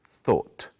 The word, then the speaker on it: thought: It's spelled in a strange way, but it's easy to say, thought.